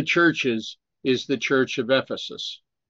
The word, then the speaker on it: Ephesus: Brother William, Ephesus. Is it if? I believe you are correct, Brother William, that it's Ephesus. Yeah, that's right. Which of the churches is the Church of Ephesus?